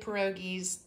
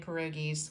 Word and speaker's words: pierogi: grew up making homemade pierogies and my gram made homemade pierogies which that is kind of it's even pronouncing it wrong it's actually pierogi but I'm going to